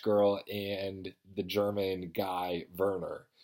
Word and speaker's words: Werner: and the German guy Verner it's spelled Werner but in the audiobook he pronounces a burner so the story goes